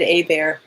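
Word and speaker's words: Hébert: So I said A Bear, but because that's the French pronunciation.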